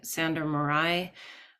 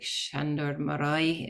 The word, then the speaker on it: Sándor Márai: book called Embers by Sándor Márai, or I think it's like Sándor Márai if you pronounce it in the Hungarian.